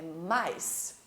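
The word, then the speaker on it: mice: Mouse, que é um camundongo, e o plural dele é mais. Olha a escrita. Misse, escrevendo, e mais, pronunciado.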